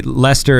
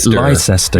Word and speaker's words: Leicester: I don't like the way Leicester is spelt. Leicester, yeah. Leicester. Strange, isn't it?